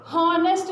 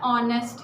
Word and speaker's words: honest: हॉनेस्ट नहीं पढ़ना है. अगर आप इसको हॉनेस्ट इस तरह से हम इसको प्रोनाउंस करते होते तो फिर तो डेफिनेटली हमने इसके साथ ए ही यूज़ करना था. लेकिन जो इसका करेक्ट जो बोलने का तरीका है वो क्या है? ऑनेस्ट है.